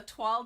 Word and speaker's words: toile: I've been practicing, so I know how to say toile now. It's not toile, which is how I've wanted to pronounce it for years, which is why I never pronounced it because I knew it was wrong.